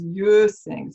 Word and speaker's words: Quisling: It's pronounced as Quisling. So I have to see if I Quisling. it right here. I don't have it right. No, I can see it. Okay. So it's Quisling. Quisling.